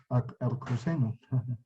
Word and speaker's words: arcoseno: Arcoseno. Se pronuncia así, arcoseno.